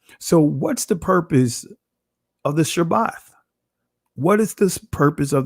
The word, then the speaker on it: Shabbath: just a t why am I pronouncing it shabbath versus Sabbath Sabbath is a Greek transliteration of the word shabbath and as you see